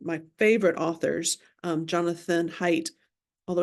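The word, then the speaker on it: Haidt: favorite authors um Jonathan height although his last name is spelled h AI DT but it's pronounced height um just I think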